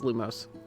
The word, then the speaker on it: Lumos: we are like prompto you're saying it wrong it's it's lumos let's call it a